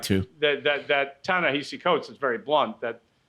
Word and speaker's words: Ta-Nehisi: I think he pronounces it Ta-Nehisi, notwithstanding the H-I-S-I.